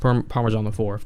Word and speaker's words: ParmaJohnIV: My solo stuff is ParmaJohnIV. It's on there, so, which is pronounced Parmesan the Fourth. But yeah, so those are our socials.